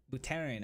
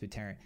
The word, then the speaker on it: Buterin: Vitalik Buterin, I believe that's how you say his last name.